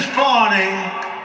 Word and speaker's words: Fani: local attorney generals and Fani, you know, Fani spelled F-A-N-I. My name is Fawny, F-A-N-I. I don't figure it. She put a little French accent on the word with her lover Wade, right?